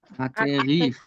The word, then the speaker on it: acquérir: দেন হচ্ছে এখন আকেখিক বলেন আকেখিক Acquérir. ইউ এর পরে ইউটা আক- সাইলেন্ট আছে ওটা সাইলেন্ট করতে যাবেন না কে এসি কি হয়